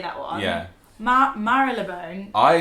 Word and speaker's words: Marylebone: It's Marylebone. It's Marylebone. Marylebone or Marylebone. Okay, literally. No one knows how to say this one.